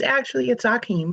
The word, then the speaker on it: Akeem: Oh, yes, it's Akeem, but you were very close.